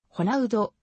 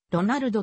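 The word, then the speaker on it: Ronaldo: 出身であるリオデジャネイロ州における発音に準ずればホナウドイベリアやポルトガル語読むに準ずればドナルドとなるなおデビューしてしばらくの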